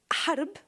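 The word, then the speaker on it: حرب: In Arabic, the word love means, it's pronounced HB, hub, and harb, war, it's actually HRB.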